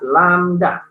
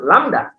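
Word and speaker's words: lambda: dengan landak oke ya jangan lupa ya Ini dibaca lamda ya dibacanya lamda satu lamda = 1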